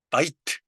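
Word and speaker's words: בית: 샤마임 예 샤 마임 그다음에 바이트 바이트 그 어 이중 모음이 된 경우에는 두 개의 음절로 치지 않고 하나의 음절로 쳐 준단 말이죠. 그래서 예 샤마임 같은 경우에는 몇 음절일까요? 3음절이 아니고 2음절로 칩니다. 바이트도 마찬가지예요. 다 이트니까 이음절인가 하겠지만 바이트는 이름절입니다.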